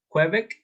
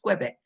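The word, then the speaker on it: Québec: Quebec. That's right. While on holiday. It's a French. It's a French word. So for that reason, it's pronounced Quebec.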